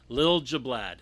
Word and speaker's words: Liljeblad: one off right away bad go ahead and pronounce your name again for all the listeners it's lil jablab lil jablaad okay i i know i've said it right